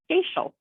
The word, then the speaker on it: Goeschel: My last name is pronounced Goeschel. Goeschel? Goeschel. You would never know that by looking at the spelling.